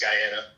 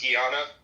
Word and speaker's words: Guyana: is when someone corrects me on how to pronounce Guyana.